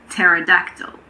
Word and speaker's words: pterodactyl: It's also silent in front of N and T at the beginning of a word, but there aren't that many words like that in English. Some examples are pneumatic, pneumonia, and pterodactyl. A pterodactyl is an extinct